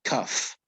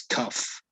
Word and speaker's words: cough: it's written like this you pronounce it cuff okay like an f it's cuff could you repeat it please oh cough okay what else uh